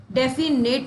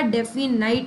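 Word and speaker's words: definite: डेफिनेट नहीं होता, डेफिनाइट होता है, क्योंकि डेफिनेट बोलोगे ना तो आई लगा पाओगे, तो यही इसकी रॉन्गली स्पेल्ड वर्ड हो गई।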